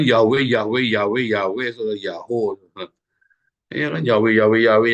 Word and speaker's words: YHWH: Jadi kalau ada tulisan YHWH, ya maka bacanya bukan Yahweh. Nggak mungkin jadi Yahweh, akan jadi Yahoo. Karena huruf H yang terakhir adalah perpanjangan dari O yang sebelumnya.